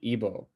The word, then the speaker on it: Igbo: Some of the more notable ones being the Hausa, the Fulani, the Yoruba, and the Igbo. I think is how you say that. I think the G is silent.